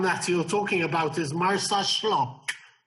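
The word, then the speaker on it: Marsaxlokk: So, the town that you're talking about is Marsa Shlock. The X is pronounced as an SH, so Shlock.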